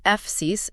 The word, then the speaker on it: Fsiis: Yeah, the documentation points out that the pronunciation F-sis is meant to echo the word physics.